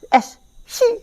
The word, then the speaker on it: S.Psi: Bacanya S.Si gitu. P-nya kayak melesap hilang.